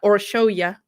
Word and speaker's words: Orsolya: the victim's name correctly so thank you so much to all my hungarian grizzlies who've been commenting and literally finitely phonetically spelling it out so that i can be like oh or show you or show your goal okay so gold was